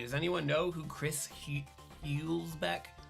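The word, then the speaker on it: Hülsbeck: Does anyone know who Chris Hulsbeck? How do you say that when there's an umlaut over it? Hulsbeck.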